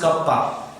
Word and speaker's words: kappa: Symbol pronounced as kappa.